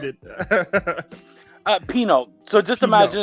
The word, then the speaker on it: Pineau: we have mr chuck pinup i know this too i know it's actually pronounced like the wine so it's pink now